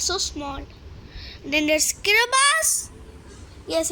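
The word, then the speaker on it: Kiribati: it's over here it's so small then there's kabas yes it's pronounced kabas not kabati then there's Vanuatu there is Samoa then there's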